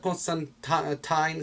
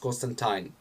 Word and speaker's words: Constantine: It's probably, I don't know in which comic book, but Constantine says that it's actually pronounced Constantine, not Constantine. But considering everybody says Constantine, it just got rooted in all of the comic book fan base, so I'm not gonna give you shit for that.